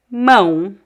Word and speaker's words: mão: Mão.